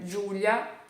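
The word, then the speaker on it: Giulia: baixo Então Ju né Júlia se escreve assim vira tem esse som de como o J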